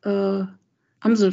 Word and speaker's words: Amsel: You cannot do it with Amsel, for instance. You a blackbird, the stress is on both syllables.